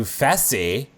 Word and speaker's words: Fessy: But he said it's like Jesse with an F.